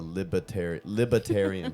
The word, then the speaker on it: Libertarian: the Libertarian Party, and he never put the R in there. And I'm like, dude, you're running for president, and you're speaking to a whole party. And you're saying the party's name wrong. Libertarian.